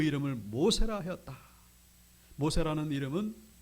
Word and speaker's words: 모세: 모세라는 이름은 이 바로의 딸이 지은 이름입니다. 모세, 모우세스입니다. 원래 발음은 모우세스.